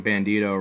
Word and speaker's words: Bandito: Well, because his name Bandito rhymes with burrito.